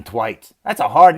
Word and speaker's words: Thwaites: tv series titans man brenton thwaites i think that's how you say it he's from queensland so it's probably flights hi my name's brenton brenton twice that's a hard name